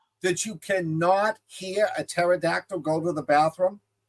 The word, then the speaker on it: pterodactyl: Do you know that you cannot hear a pterodactyl go to the bathroom? Because the P is silent.